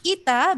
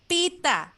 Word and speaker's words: Pita: don't get me wrong not ita but pita things like that so